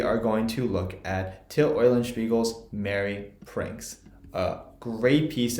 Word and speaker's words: Till Eulenspiegel: So if you've never heard Till Eulenspiegel's Merry Pranks, that's how you say it, Till Eulenspiegel, go check it out on YouTube.